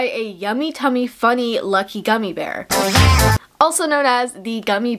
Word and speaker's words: Gummibär: animated music video um of a singing green gummy bear who has become you know the titular character known as gummy bar but actually since researching this it's pronounced gummy